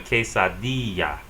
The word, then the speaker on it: quesadilla: The double L sounds like Y in Spanish. The word she is pronounced ella. Or that cheesy thing you get is called a quesadilla.